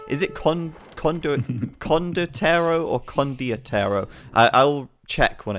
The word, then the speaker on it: Condottiero: Condottiero. I can say it. I just always forget, because I've said it wrong for so long that it's kind of like legitimized the wrong pronunciation in my mind.